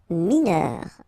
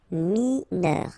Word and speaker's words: mineur: Mineur, EUR, heure, mineur, mineur.